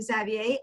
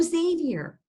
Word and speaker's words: Xavier: So I usually pronounce my name Xavier. Oh, Xavier. Okay. Yes, but Xavier is fine. It's French.